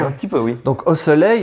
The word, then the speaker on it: osselet: Ouais, osselet ça s'écrit ET et là c'est osselet comme une dent de lait.